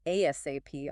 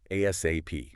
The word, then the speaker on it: ASAP: And the sources note, you can say it like ASAP, spelling it out or just as one word, ASAP.